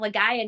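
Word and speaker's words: Legaia: you mean they're like it's Legend of lagaya not Legend of liy I'm like oh yeah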